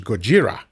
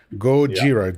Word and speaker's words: Gojira: And actually the the title of the original one uh is the the proper way to pronounce the word which is Gojira. Gojira.